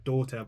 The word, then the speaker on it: DOTR: And she released an album called Daughter, but it's spelled DOTR.